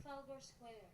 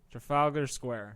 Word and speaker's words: Trafalgar Square: Trafalgar Square. Trafalgar Square. Wait, let's get that again. Trafalgar Square. Trafalgar Square.